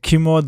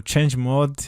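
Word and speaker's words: chmod: another command that is called a key mode or change mode excuse me it depends on how you pronounce this one but this is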